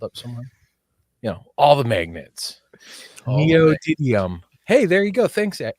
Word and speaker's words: neodymium: Neodymium.